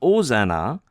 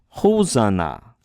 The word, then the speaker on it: Hosanna: The h sound coming from the rough breathing mark. If it were a smooth breathing mark, it'd be Ozana, but it's not Ozana, it's Hosanna.